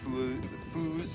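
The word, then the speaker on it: Feuz: how there's, you know, foos is in the F-E-U-Z, or you get the Swiss that want to come over and call it foits, spelled the same way.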